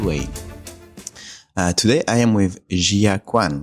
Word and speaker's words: Gia Kuan: Today I am with Gia Kuan, right? Yes. Is it the right pronunciation? Correct, Gia Kuan. Gia Kuan.